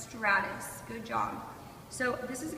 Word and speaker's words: stratus: It is pronounced stratus.